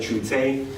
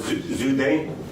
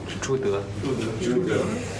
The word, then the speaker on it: Zhu De: forgive my pronunciation, so in the English we used to say Chute, now it's Zhude. Zhude.